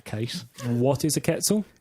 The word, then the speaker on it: quetzal: saw shouting at a video on youtube it's pronounced quetzal quetzal which is a shame if that's the case and what is a ketzel it's a bright green bird okay and what's